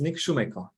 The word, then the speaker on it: Nik Sumeiko: name is Dennis and today with me is Nick Shoemaker uh Nick welcome hi Dennis did I did I get the pronunciation correct perfect Nick Schumacher before we start I just want to acknowledge